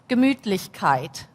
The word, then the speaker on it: Gemütlichkeit: So the German word for that is Gemütlichkeit.